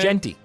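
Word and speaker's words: Jeanty: this this Sunshine kid is it janty that's how we say his name jenty jenty all right how about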